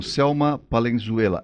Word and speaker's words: Selma Palenzuela: Estou conversando com Selma Palenzuela. É assim que pronuncia mesmo, né? Isso, é espanhol.